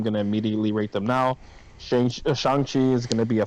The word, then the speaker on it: Shang-Chi: I'm looking forward to watching Shang-Chi or Shang. Or I keep on saying it wrong. Shang-Chi.